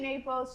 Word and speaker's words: Napoli: sorry y'all so wait napi I I say Naples she says Napoli we already know that my pronunciation game on this show I Mis pronunciate